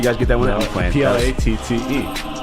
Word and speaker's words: Platte: Platte. Like plate with an extra T and an E.